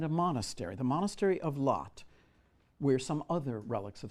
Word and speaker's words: Latte: loot the monastery of Lot, L-A-T-T-E, Latte, but I think it's pronounced Lot.